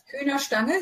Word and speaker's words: Hühnerstange: And our second phrase for today is Hühnerstange. Mm-hmm. Is that pronunciation okay? Hühnerstange, yeah.